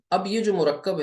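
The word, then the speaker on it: مركب: पढ़ेंगे कैसे तो मैं इनकी आपको एक बार स्पेलिंग करके स्पेल करके बता दूं मुफ रद ठीक है ऐसे पढ़ेंगे और मुरक्काब है यह दरअसल मुरब्बा है मुरब्बा क्या होता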